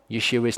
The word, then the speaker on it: Yeshua: And Yeshua, which is actually how Yeshua's name is pronounced, it's Yeshua. We really do need to get into the habit of saying that.